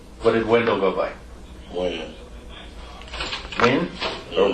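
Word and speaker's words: Wynn: Win. Win or Wen?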